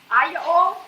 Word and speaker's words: aglio: Aglio, is that how you say it? Hallelujah. Aglio, I said it right.